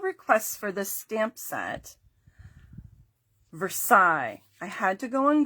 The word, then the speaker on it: Versailles: Versailles.